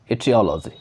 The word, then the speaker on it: etiology: ध्यान दीजिएगा कि ये साउंड ए से भी शुरू होता है और ई से भी शुरू होता है, जो स्पेलिंग होता है खास करके, लेकिन जो प्रोनाउंसिएशन होते हैं वो इसी तरह का होते हैं, इटियोलॉजी, ठीक है।